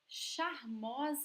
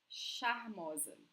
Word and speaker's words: charmosa: It's like actually SH in English, like shower, shiver, charmosa, okay?